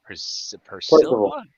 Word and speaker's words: Percival: Percival.